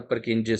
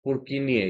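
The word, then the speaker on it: Purkinje: Jutting out cells are the perkingi cells or their real pronunciation is purkinia.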